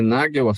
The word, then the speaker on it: Nagell: É Nagel a pronúncia do seu sobrenome?